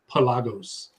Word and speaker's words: Pelagos: That's the right way to say it now, right, Sam? In the commercials, Pelagos.